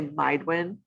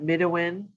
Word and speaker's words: Midewin: people are challenged with how do you say midday when some people say mindwen or middlewin um and midday win where does the name